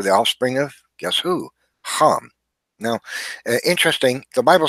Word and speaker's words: Ham: The Bible states that Genesis 6:10, Noah had begat three sons, Shem, Ham, his name would be pronounced Ham in Hebrew, and Yafet.